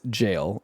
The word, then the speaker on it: Gaol: But, they just released this brand new game called Junjiito Maniac and Infinite Jail. It's spelled G A O L, but apparently it is pronounced like jail.